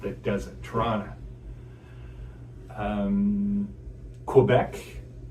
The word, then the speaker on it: Quebec: Quebec, a lot of people say Quebec rather than Quebec. right? The more Yeah. k sound. We stress more of a QU sound in English parts of Canada.